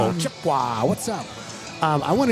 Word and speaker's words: Chippewa: Chipua.